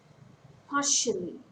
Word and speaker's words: partially: Partially. It's a three-syllable word. Stress falls on the first syllable.